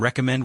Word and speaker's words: recommend: Yu lee and recommend with a clear stress on mend.